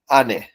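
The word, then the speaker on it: 姉: কাঞ্জিগুলো থাকবে দেখেন এখানে এই কাঞ্জিটাকে বলা হচ্ছে আনে আনে মানে বড় বোন আর এটা হচ্ছে কুনিয়মি হচ্ছে আনে আর এই কাঞ্জিটার অনিয়মি যেটা চায়না থেকে উচ্চারণ হয়েছে সেটা হচ্ছে শি আনেটা নিয়ে আমরা যদি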